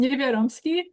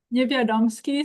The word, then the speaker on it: Newendowski: Um Newendowski. One more time? Newendowski, so the W is like a V.